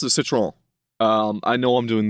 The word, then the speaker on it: Citroën: And it definitely sounds like a guttural Quebecois accent, but um uh it's I pronounce it with the proper more Parisian uh Citroen uh pronunciation of it.